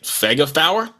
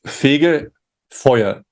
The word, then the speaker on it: Fegefeuer: like you said it's I'm gonna try and pronounce it Sega Fowler almost it's figure foyer okay close enough yeah it's